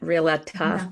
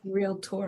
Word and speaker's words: realtor: that's how you it's there's no extra uh in it realtor no real tour my favorite real tour two syllables only two syllables our affirmation is I